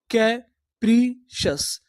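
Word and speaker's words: capricious: सी आई ओ यू एस, अगर आपको English में कहीं पर CIOUS लिखा मिले तो हम लोग CIOUS को पढ़ते हैं सस। क्या पढ़ते हैं? सस। तो पूरी मीनिंग क्या बनी? कैप्रीशस, कैप्रीशस, कैप्रीशस।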